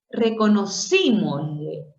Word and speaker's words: reconocímosle: reconocímosle. Nosotros decimos reconocimos, ¿no? Reconocimos es una palabra grave. Reconocimos. Pero al agregarle una vocal, una sílaba más, un pronombre en este caso, reconocimosle se convierte en esdrújula.